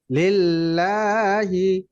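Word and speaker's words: لِلَّهِ: আলামিন চমৎকার হয়েছে আপনার এই লাটা একটু টান দিলে আরো বেশি সুন্দর হয়ে যাবে লিল্লাহি আলহামদুলিল্লাহি রাব্বিল আলামিন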